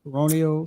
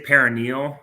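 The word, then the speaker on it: peroneal: out with a peronal am I saying it correctly peronal Str some say most more say paranal is strain um what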